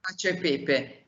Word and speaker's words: cacio e pepe: It's a classic, and I'm not sure I'm going to pronounce it right. Is it cacio e pepe? Pasta cacio e pepe. Yeah. Cacio e pepe.